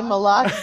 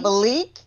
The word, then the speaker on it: Malak: How do you say Malak's name? It's Malak, not Malik, not Malachi, not what Malice, not Malachi, not Barachi. It's Malak.